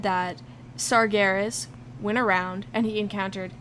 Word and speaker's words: Sargeras: um by the way I'm using the Warcraft 3 pronunciation a sort of bastardization of the world Warcraft 3 pronunciation to say sargeras uh some people say sargeras um so what's with